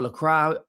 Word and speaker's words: Lacroix: Richards, is it Lacro or Lacra? I think it's Lacroy is how it's pronounced.